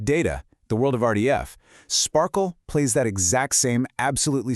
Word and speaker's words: SPARQL: First, it's pronounced SPARQL, which is kind of fun, but more importantly, it is the official W3C standard for querying a specific data model called RDF.